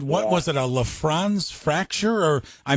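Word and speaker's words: Lisfranc: And they said, was it, a LaFrance fracture? Or I mispronounced that probably.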